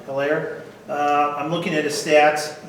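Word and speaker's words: Helaire: How do you pronounce his last name? Hilaire.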